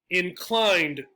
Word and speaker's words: inclined: So this E does not add another vowel sound. Inclined, inclined. It's as if there's no E there. Now the E does have an important job. It makes this I a long I, clind, I. If there wasn't an E, it'd be inclined. However, for pronunciation, it doesn't have anything to do for itself, right?